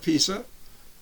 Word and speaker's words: Pisa: drop from the tower of pisa yeah that's what it's pronounced and then i'm going